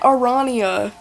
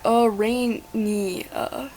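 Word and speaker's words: Aranea: I've been saying it Arania. It's Arania.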